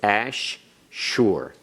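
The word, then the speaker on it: אֲשֶׁר: Notice the daghesh in the shin, it's doubled. So, it's ash-shur.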